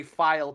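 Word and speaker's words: filé: Let me say I did research the pronunciation of every word in this and in creole cooking they say file powder not feeling powder.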